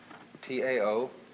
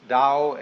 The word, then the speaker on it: Tao: is called the dao t-a-o pronounced dao in the mandarin dialect tao in the shanghai dialect toe in the cantonese dialect take your choice dao